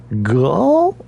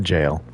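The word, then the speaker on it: gaol: It's called a jail, and it's spelled in the Old English way. So you look at it and you go, Gull? But no, it's a jail.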